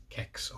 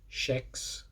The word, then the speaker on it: Kex: indeed kicks C clad the bar that literally says ke x kcks on it now calling that sh for people who don't pronounce it like that just ask them they'll tell you they'll usually do a